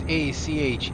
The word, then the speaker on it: Acheron: Anyways, as I was saying, my AB's name is Acheron. That's Acheron. I'm not going to try and pronounce the last name off the top of my head.